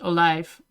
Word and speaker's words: olijf: In, like, in the Netherlands, an olive would be an olijf, right? That's how you pronounce it in Dutch, olijf.